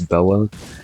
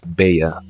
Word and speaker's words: Bella: inside the name, but in Spanish, when there's 2 L's together, they make a Y sound, so they would be pronounced as Bea, since that's how you pretty much spell it and also pronounce it.